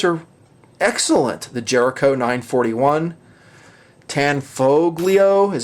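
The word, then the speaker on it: Tanfoglio: some of those are excellent the Jericho 941 tan foglio is how you say it TZ 75 they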